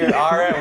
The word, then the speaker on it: Cockburn: Coburn would have been fine. But I don't know why you had to call it Cockburn and then say the C and K is silent.